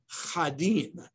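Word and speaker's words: חדים: Or another explanation is they spoke Devarim Chadim. They spoke sharp words. Just drop the aleph, which is a silent letter, and you get the word chad, which means sharp.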